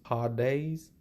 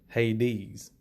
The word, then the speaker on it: Hades: You can see the pronunciation here is Hades, but I'm going to call it Hades because that's what I'm used to calling it.